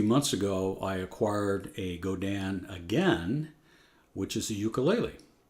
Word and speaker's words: Godin: it's a French and it's pronounced go Dan so that's the way I pronounce it now even though it's G